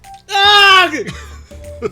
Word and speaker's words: Aaaargh!: How do you pronounce that? Aaaargh!